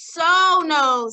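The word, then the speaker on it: sonus: Okay, next we have our Latin word this week, which is sonos. Say that. Sonos, right here. Let's spell it, the S one.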